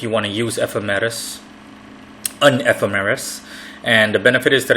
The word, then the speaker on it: ephemeris: It's pronounced the way I'm saying it, ephemeris, and it's spelled Ephemeris.